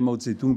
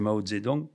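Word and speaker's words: Mao Zedong: de maozedong oui enfin je dirais mautzetung parce que nous avons plus l'habitude de le dire la vraie prononciation paril c'est maozedong donc l'apport avorté de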